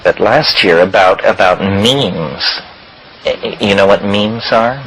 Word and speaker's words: meme: last year about about means you know what means our means are the smallest units of a concept and they're like genes the word is deliberately constructed to rhyme with gene and so when I